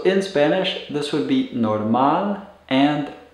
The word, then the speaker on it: normal: spanish this would be norman and a norman and when you pronounce these be sure to put the stress or intonation on the last syllable of the words so that you're stressing